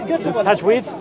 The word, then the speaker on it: Tajweed: Is it Tajweed? Tajweed, yeah.